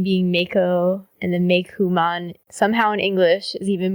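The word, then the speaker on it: Meicoomon: No, they're saying Meikumon, but it's officially romanized as Meikom. But if you read, like, Japanese materials, it is spelled with, like, ku, katakana, but then written in English as ko, pronounced ku.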